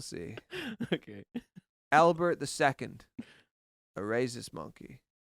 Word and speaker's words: rhesus: A racist monkey. No, a Rhesus? Reese's monkey. Yeah. Reese is a character. No, rhesus. It's a kind of monkey. Rhesus. I don't know how to say the word. Yeah, that's correct. A rhesus monkey.